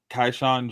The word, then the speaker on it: Keyshawn George: Okay, and then we got Keyshawn George from the Wizards.